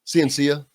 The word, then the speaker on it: Ciancia: first of all, is that the correct pronunciation of your last name? Ciancia?